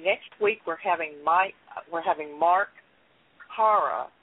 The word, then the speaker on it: Parra: Anyway, next week we're having Mark Parra. I think that's how you say his name, P-A-R-R-A, and he is from Ohio.